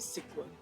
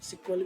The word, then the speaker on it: SQL: एसक्यूएल कैन be pronounced as सिक्वल। आप एसक्यूएल को सिक्वल भी कह सकते हैं।